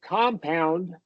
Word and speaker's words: compound: vowels right but the first syllable is getting the primary stress and pitch if you listen to the way I say it compound compound pitch goes up for the first uh one so I think that